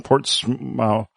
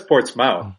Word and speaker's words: Portsmouth: escort for the United States Postal Service in Portsmouth Portsmouth New Hampshire Portsmouth Portsmouth it says port's mouth I'm not GNA Li ites say Portsmouth I